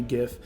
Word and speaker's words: gif: basic image file right it's hard g gif or an mp4 which is